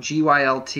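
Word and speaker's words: Gylt: the other one was GUI LT I think it's pronounced a guilt yeah um and it's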